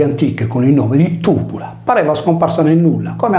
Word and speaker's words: Tybula: Il problema della sua individuazione consistette nel fatto che la vocale Y della prima sillaba veniva letta erroneamente come una I anziché come una U, stravolgendo il suo significante e conseguentemente il suo significato.